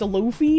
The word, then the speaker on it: Luffy: It's pronounced Luffy, but the character is not an extremist.